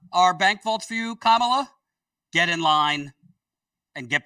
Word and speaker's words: Kamala: This headline, Kamala Harris works to build bridges in the business world.